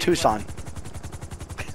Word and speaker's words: Tucson: You know, I once heard a story about a lady pilot, a blonde, who was flying through Tucson, Arizona, and Tucson. It's pronounced Tucson.